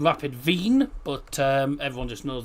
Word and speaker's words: Wien: speak German it's rapid vein because the W is pronounced as a V.